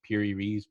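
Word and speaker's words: Piri Reis: it p-i-r-i and his last name is r-e-i-s piri reese pybee rice and he has a map and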